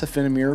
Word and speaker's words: Offene Meer: And by the way, I'm saying it correctly. I know. I'm the king of just completely fucking up pronunciations. Michael actually commented on my EDC video and said that I pronounced Offene Meer properly.